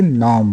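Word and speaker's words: norm: नॉर्म नहीं है यहाँ पे, नॉर्म वो पढ़ेंगे क्योंकि आर साइलेंट है.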